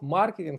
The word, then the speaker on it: маркетинг: вами домовимось що ми правильно буде вимовляти слово маркетинг через через наголошення на первий слог маркетинг від словом маркет супермаркет запам'ятаємо да а от